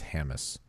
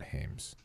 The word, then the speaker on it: Hammes: to correct your pronunciation they said it's Hammes not Hames I knew that and